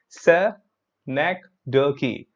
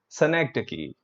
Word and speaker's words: synecdoche: spelling look at this look at the pronunciation of this word here sir neck dirky synecdoche synecdoche that's how it's pronounced so what does this